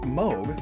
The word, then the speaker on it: Moog: a moo which is actually pronounced Moog like Vogue is another word for